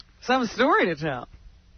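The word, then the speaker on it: Takei: Is it Teai? This is a frequent misprononunciation of my name. No, it's pronounced te. I corrected. It rhymes with okay.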